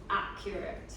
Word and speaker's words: accurate: Accurate. Accurate. Accurate. Accurate. Accurate. Because you're saying accurate, and it's accent at the beginning.